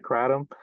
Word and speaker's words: kratom: things however we want but the the actual pronunciation is more like crom um I may use both pronunciations but just